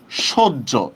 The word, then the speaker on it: সহ্য: যেমন আমরা বাংলার ক্ষেত্রে যেমন দেখেন এরকম অনেক শব্দ আছে, যেমন দেখেন এই যে সহ্য, এটা লিখছি কিন্তু আমি সহ, কিন্তু উচ্চারণ করতেছি কিন্তু সহ্য, এভাবে উচ্চারণ করতেছি, ঠিক না?